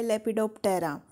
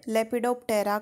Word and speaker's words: Lepidoptera: जो order लेपिडोप्टेरा है, अगर इस वर्ड लेपिडोप्टेरा को हम ब्रेक डाउन करें तो ये वर्ड एक्चुअल में 2 वर्ड से मिलके बना है। एक तो है लेपिडो और दूसरा है टेरा। पी साइलेंट है।